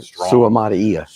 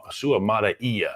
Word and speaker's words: Suamataia: Okay, you got to do the vowels, each one separately. Right, Suamataia. Suamataia.